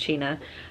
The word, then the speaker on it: China: The Adventures of China iron and it is pronounced China um I I'm not ready I wasn't I